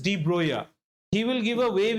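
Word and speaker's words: Broglie: electave wave there's a Danish person whose name is Drogley but he's pronounced as Droya he will give a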